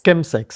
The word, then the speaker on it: chemsex: Kem sex. Chemsex, sí, que se escribe chemx y que tiene que ver con esta con la contracción de dos palabras en en inglés, que es chemical, químico y sex.